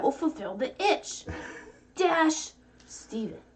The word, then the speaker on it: Stephen: fulfill the itch dash stephen the ph makes a v sound look at that jazzy someone someone figured out how to actually properly like pronounce steven because it's their name